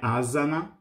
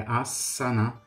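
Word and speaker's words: āsana: outros são normais e o s mesmo que ele apareça uma única vez você não tem dois s ele é pronunciado como se a gente tivesse pronunciando dois s Então não é asana é a sanar mesmo aparecendo com essa só ok e a tradução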